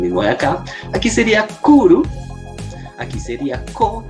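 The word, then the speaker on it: 来る: Aquí sería kuru.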